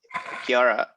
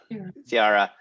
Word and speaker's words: Ciara: Exactly what Dennis just said, but Kara, I'm saying your name wrong. Sorry. Ciara.